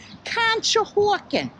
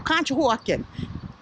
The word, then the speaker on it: Conshohocken: to tell that you're from Pennsylvania you could pronounce certain things like School kill Conshohocken and Contra Hawkins is actually a town outside